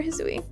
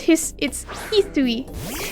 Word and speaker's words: Hisui: me excited to explore Hisui. Yeah, same. I am very excited for Hisui. Hisui! I know that's not how you say it, but Hisui. I just want to say it like that.